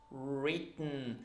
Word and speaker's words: written: with the are so round your mouth like this written and then just swallow the e sound not to retain not written but written okay it's not so